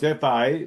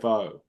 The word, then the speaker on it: pho: It's technically pho, but people call it pho. So it's FA, but they call it FO.